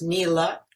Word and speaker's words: Niela: name as you heard also presents problems it's pronounced me luck and everyone misspelled it but hey if that's